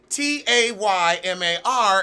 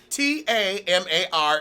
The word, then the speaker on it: Tamar: There's no Y. Taymar is Tamar. Tamar is Tamar. All right. That's it. It's just ain't no accent over the shit.